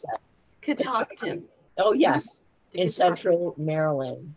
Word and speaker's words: Catoctin: How do you pronounce that? Catoctin.